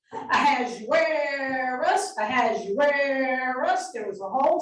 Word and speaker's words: Ahasuerus: Everybody also learned how to say the biblical name of King Xerxes with a little bit of a southern twist. Ahasuerus, Ahasuerus.